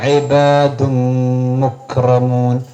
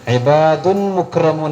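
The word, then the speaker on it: عِبَادٌ مُكْرَمُونَ: ഇബാദുൻ എന്ന് ഉച്ചാരണം വെച്ചാൻ പാടില്ല, അവിടെ മീമാണ് ഉച്ചാരണം. ഇബാദും മുക്രമൂൻ, മുക്രമൂൻ കാഫിന് സുക്കൂനാണ്. ഇബാദുൻ മുക്രമൂൻ എന്ന് ഓതാൻ പാടില്ല, തെറ്റാണ്.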